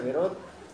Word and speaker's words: Beraud: Y le decía yo a Selmita, que a Selma Beraud, se escribe Beraud, se pronuncia Beraud, que conocí el lugar donde se desarrolla una de las obras muy importantes del teatro.